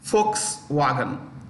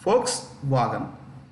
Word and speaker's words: Volkswagen: pronounced with an F but written with a V. Folks. I'll spell Volkswagen. Volkswagen. Volkswagen.